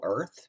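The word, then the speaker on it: Urth: uh realm called imperial earth but spelled u-r-t-h so whenever i'm talking that sabrina i usually pronounce it earth just you know because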